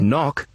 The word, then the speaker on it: knock: Or in the word knock, you don't hear the K at the beginning.